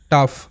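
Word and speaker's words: tough: কিন্তু ইংরেজির সাউন্ড আলাদা ইংরেজি শব্দে জিএইচ ফ হিসেবে উচ্চারিত হবে তবে অনেক সময় সাইলেন্ট থাকে এর উচ্চারণ হয় না সেটাও শেখাবো তো জিএইচ ফ হিসেবে উচ্চারিত হয় এরকম শব্দ হচ্ছে টাফ টি ও ইউ জি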